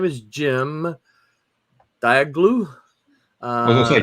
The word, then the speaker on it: Cem: That's Jim. That's pronounced Jim.